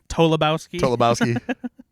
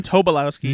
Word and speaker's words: Tobolowsky: Although, did you notice that Jake Gyllenhaal said his name wrong twice? Yeah. Tolobowski. He's a good actor. He is, yeah. Stephen Tobolowsky.